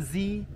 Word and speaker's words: Ziyech: Ziyech.